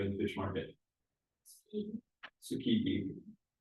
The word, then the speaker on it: Tsukiji: Tsukiji.